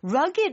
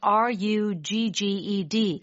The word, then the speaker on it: rugged: Rugged is spelled R-U-G-G-E-D. And you may think it's rugged. Yes. But it's rugged. Yeah, you do have to say rugged.